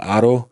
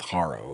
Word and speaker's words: Haro: They pronounce it Emmanuel Haro, which is the way it's supposed to be pronounced. But apparently, when I do that, people get angry. So we're just going to stick with Haro, okay?